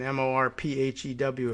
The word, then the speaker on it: Morphew: That might be the pronunciation. Morphew, if you want to get it right.